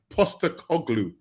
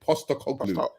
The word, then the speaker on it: Postecoglou: Now, Postecoglou. That's it. Postecoglou. Angie Postecoglou.